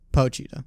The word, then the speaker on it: Pochita: earlier though is do you think that uh poochie is how you say all right pochita pochita cheetah he um do you think that